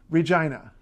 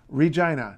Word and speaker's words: Regina: city the capital of catch on however is Regina Regina not Regina nothing like that Regina also want